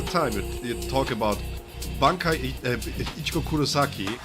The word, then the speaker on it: Ichigo Kurosaki: Ichigo, Kurosaki, in a hollow. That's the right way to say it. It's not Shirosaki, it's not white Ichigo, it's Ichigo Kurosaki in a hollow.